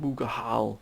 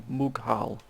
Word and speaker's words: Mughal: I did someone did sort of bring me up on my I keep saying Mughahal when it's actually Mughal Empire.